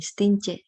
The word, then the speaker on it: Stintje: Nah, ejaan belum disempurnakan ini, Stince. Bacanya C tapi dia masih TJ.